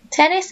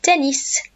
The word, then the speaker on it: tennis: repeat Tenace any ideas it's no tennis so you start to see lots of similar to the English but we sometimes have to change our pronunciation so lute tennis not tennis and tennis no volleyball or